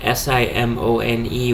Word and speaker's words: Simone: her name is Abby Simone or Simone um the thing is in Italian s i m o n e which is how she spells her last name is pronounced Simone which is a male